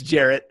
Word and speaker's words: Jarrett: I thought you got the last name wrong, but I know you got the entire thing wrong. It's Jarrett. I don't know why Garrett.